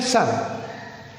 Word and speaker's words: son: S-U-N, sun.